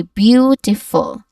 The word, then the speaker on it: beautiful: So the E, A, U in the spelling. So these letters, let me highlight it for you, that one. And the E and the E parts, on the following syllable, don't necessarily make all the sounds you would expect from each other. From each letter individually. So it's more about the overall sound. So we say beautiful.